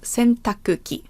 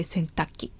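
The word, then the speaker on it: 洗濯機: is called in Japanese could also be called centakuki but it's a little difficult to pronounce so usual Japanese people say centaki the first two kanji sintaku means to wash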